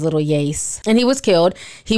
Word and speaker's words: Lil Yase: never heard of him i was kind of little yasay but i found out his name is little yace and he was killed